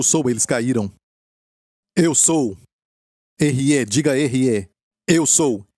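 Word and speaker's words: אהיה: R-E, diga R-E. Eu sou. E se escreve desta maneira assim, certo?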